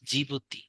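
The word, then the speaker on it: Djibouti: Eritrea সোমেলিয়া আরেকটা হচ্ছে জিবুতি জিবতি বানানটা হচ্ছে এটা ডি দিয়ে শুরু হ্যাঁ এটা একটু মনে রাখবেন জিবুতি তাহলে হর্ন অফ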